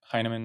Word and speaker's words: Hinaman: Hinaman? Absolutely. So LinkedIn's great. Heineken, right? We talked about the pronunciation, but the spelling is just like Chinaman without the C.